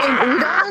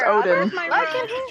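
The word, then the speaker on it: oden: sudden they see Well, it's not spelled with a U, it's O-D-E-N. Like I had to reset. Oh, I don't know. I think it's actually pronounced Odin. Cash, and whenever I do that, Because it's udon is with noodles.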